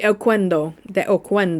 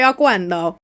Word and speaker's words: Oquendo: Antonio de Oquendo. You gotta say it like a Spanish person. I'm saying it like an Italian. Antonio de Oquendo.